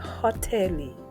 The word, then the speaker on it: hoteli: The next letter is pronounced as Ha. Ha. And the word will be hoteli.